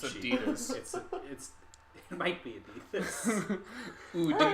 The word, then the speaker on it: Adidas: Because we're doing the European pronunciation of Adidas. It's Adidas.